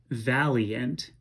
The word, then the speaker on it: valiant: to work with but we can expand this i-a-n-t at the end of valiant to create a tenth syllable and we will pronounce that valiant i'll scan it out